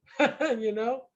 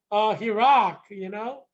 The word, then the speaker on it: Heerak: Heerak, Heerak.